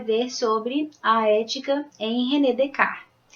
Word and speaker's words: Descartes: sobre a ética em redecar nome dele se escreve Descartes mas não se lê Descartes porque não é uma palavra em português que você tem que ler como praticamente Como escreve tá então a gente